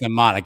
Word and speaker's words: mnemonic: I think it's mnemonic. Yeah, I think the M is silent in mnemonic there.